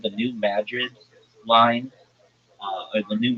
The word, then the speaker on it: New Madrid: like uh well it's New Madrid uh Missouri. And if you're like, why are you calling it Madrid and not Madrid? It's not pronounced like Madrid, like in Spain.